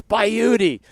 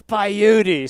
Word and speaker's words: Bayudi: We We said your name wrong the whole broadcast until Mr. Dawson said, "It's it's Bayudi. Make sure it's Bayudi."